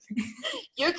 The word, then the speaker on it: Jurka: It's Jurka, right? Everyone always asks me, how do I pronounce the names? Jurka Uno? I don't know. Jurka is the correct one.